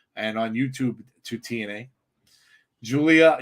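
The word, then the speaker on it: Giulia: on YouTube to TNA Julia equals gulia Julia gulia like the one from uh The Wedding Singer pronounced Julia yeah nice so the G is the J makes sense that makes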